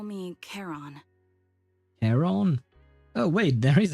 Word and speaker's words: Charon: Okay, so it is pronounced Charon, by the way, and not Sharon, I suppose.